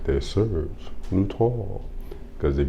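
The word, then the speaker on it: Serge Lutens: say it like that Serge Lon cuz if you got to Serge gluten you might got gluten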